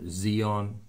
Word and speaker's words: Zion: will be reigning from Mount Zion or Zeon you want to pronounce it that and in Jerusalem and